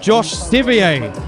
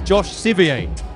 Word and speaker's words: Josh Scivier: We've got Josh Scivier. I'm told is how to pronounce it properly. I've got it wrong for many years now, but it's Josh Scivier who's entering the ring right now.